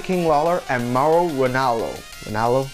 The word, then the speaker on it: Ranallo: Ranallo? Yeah, that's how you say it.